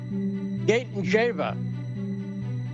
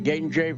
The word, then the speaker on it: Gaytandzhieva: Diliana Gaytandzhieva. And by the way, I did get through that pronunciation correctly. Gaytandzhieva. I checked it with her. That is correct.